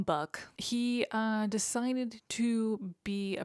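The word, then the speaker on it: Buke: his friend, whose name is spelled B-U-K-E, I call him Buck, he decided to be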